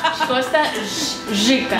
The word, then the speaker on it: Costa Rica: yo sé es que pronuncian la R más o menos así, ¿no? Rica. Chica. ¿Cómo es? Chica. ¿Cómo es? Ay, pues madre, es diferente a como yo pensaba. Costa Rica. Chica. Más como una medio che.